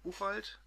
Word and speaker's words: Buchwald: Ah ja, dann 1, 2, 3, 4, 5 Bände Art Buchwald. Wie spricht man aus? Buchwald? Also eher Buchwald, ein amerikanischer Satiriker, ausgezeichnet, der vor einem Jahr gestorben ist.